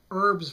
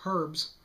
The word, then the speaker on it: herbs: get back to the issue of herbs versus herbs eddy hazard also brought this one up is that why it really bothers me no it's more complicated than that i think any british comedian or for that matter any british person should think carefully before criticizing the americans for dropping the h at the beginning of any word in charles dickens great